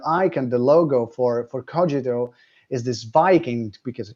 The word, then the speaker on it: Kogito: therefore i exist and the pronunciation the canonical pronunciation if you will it's cogito for us but actually uh since it comes